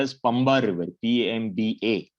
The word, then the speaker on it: Pamba: called as Pamba River, Pamba, not Pmpa. Sometimes it is called as Pmba also. In the southern accent, sometimes the pronunciation gets changed.